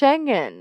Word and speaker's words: Schengen: can be somewhat mind sh shenen okay there we go I was saying it wrong my whole life because I was started